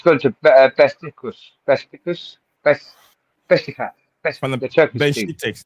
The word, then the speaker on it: Beşiktaş: Beşiktaş. Besiktas, yeah. Well, I can't pronounce them.